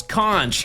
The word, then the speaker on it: conch: What's conch? Is that how it's spelled? You're just about there. You're just about there. C-O-N-C-H, chat, conch. It's like couch, but with an N.